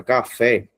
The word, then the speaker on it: café: Veja, gente, que quando você separa café, a sílaba forte é fé.